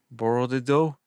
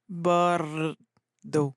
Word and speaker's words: Bordeaux: Bordo. Bordo.